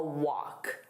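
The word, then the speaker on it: wok: Right now, the pronunciation of walk and walk are the same. So when I said them, it was the exact same word. Different spelling, same pronunciation, different meaning.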